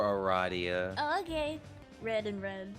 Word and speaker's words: Aradia: take over for for Aria no not if you pronounce her name like that I got this I can take her for Aradia okay red and red